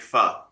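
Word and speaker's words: phở: I I I so want to go to Vietnam just so I can learn to make fur. To make fur. That's what it is. It's called Mhm. It's pronounced fur.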